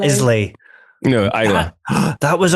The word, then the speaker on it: Islay: it's spelled Islay.